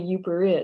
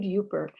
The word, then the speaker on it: Yooper: you no doubt know the name derives from the pronunciation of the acronym up with er right so a person